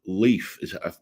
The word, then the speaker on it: LYF: That's it's an interesting brand association, and they've got this new brand, I believe, called Leaf. I believe how you pronounce it, LYF.